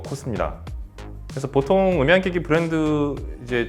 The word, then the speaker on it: KOSS: 발음이 똑같아서 많은 분들이 이제 보스랑 헷갈릴 수 있는데 사실 인지도는 사실 보스가 더 높을 것 같아요. 그러니까 지금 세대의 분들한테는. 그래서 보스가 아니고 코스입니다.